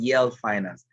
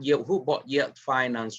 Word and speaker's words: Yel Finance: It's called Yale Finance. I remember that Yale Finance is spelled Y-E-L and then finance.